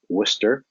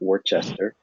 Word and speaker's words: Worcester: from Assumption College in Worcester Mass that's pronounced that's pronounced Worcester not Worchester how do you continue